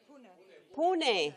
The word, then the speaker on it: Pune: How do you pronounce P? Pune. Pune.